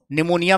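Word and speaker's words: pneumonia: निमोनिया में P silent होता है।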